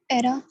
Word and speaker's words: era: Before vowel sounds। vowel sound से पहले हम इसको प्रोनाउंस करेंगे। इसकी एग्जांपल्स, Sir, ERA, ERA.